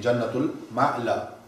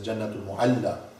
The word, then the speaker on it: Jannatul Ma'la: And today they are resting in Jannatul Ma'la. Some pronounce this as Jannatul Mu'alla in Makkatul Mukarramah.